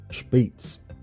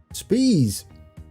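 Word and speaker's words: Spiez: Speets. Thank you, Rubber Ducky. Is that how it's pronounced? Speets. I think I was saying it like that for a while, and then I stopped. Spees. We would say Spees in Germany. No spy. Speets. I got it.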